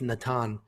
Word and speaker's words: Natan: fighting the tan levy i wrote nathan here but it's natan listen natan levy it's funny because joe todoro said that he in his research natan levy was a um